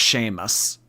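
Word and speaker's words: Seamus: okay you know what when you type out s a m u s I do know that that's pronounced Sheamus I don't know why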